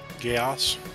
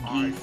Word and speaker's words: Geass: Geos. Yeah. I thought it was pronounced geese at first.